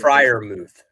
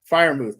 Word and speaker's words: Freiermuth: Freiermuth. Freiermuth. Thank you. It's like Shire, but Fryer.